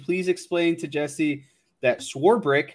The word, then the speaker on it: Swarbrick: to Jesse that sworebrick how I've been saying it and schwarber are pronounced the same on the front end yes swore brick there's no there's no eight or there's no CH in swarbrick schwarber sworebrick there